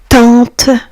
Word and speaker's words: tante: Tante. Vous voyez les amis, A + N vont former le son en tente.